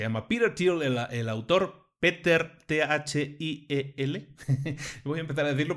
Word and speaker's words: Thiel: Peter, Thiel.